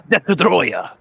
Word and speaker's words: Destoroyah: Destoroyah, but A, they're VHS, and B, it's not Destoroyah, Destoroyah. That's how you say it. Destoroyah. Destroyer. That's what happens when you can't trademark Destroyer, kids.